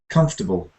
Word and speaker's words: comfortable: it right out so some people say uh comfortable has four syllables d d but if you try to sound three comfortable comfortable you automatically make a super unstressed syllable comfortable violence not violence